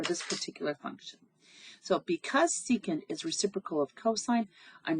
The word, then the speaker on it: secant: So I see secant. We don't pronounce it sec. The secant, y equals the secant of x.